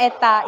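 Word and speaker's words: η: Nah, hari ini kita mengenal adanya huruf seperti huruf N. Ya, yang disebut dengan eta ya, bacanya eta.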